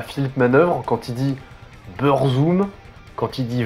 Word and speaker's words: Burzum: Donc si on francise ça, la prononciation la plus proche, ce serait Burzum.